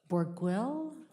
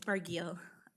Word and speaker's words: Barguil: next speaker is Borguil. And you're going to tell me how to pronounce that. Yeah, you got it almost right. It's Barguil.